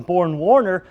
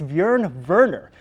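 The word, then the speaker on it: Björn Werner: Colts head coach Chuck Pagano called him Born Warner. The more proper pronunciation is Bjorn Werner, but it's not how you pronounce it, just that you know it.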